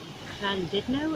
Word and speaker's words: Llandudno: oh wow nice one put on them here Clan did know as the proper pronunciation is and we've just been up great